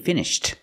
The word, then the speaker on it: finished: they're finished skating also we don't really hear the T and finished because the T sound T is between consonants you don't really hear it